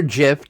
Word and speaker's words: GIF: The Hodies, the GIF or GIF, depends how you want to pronounce it.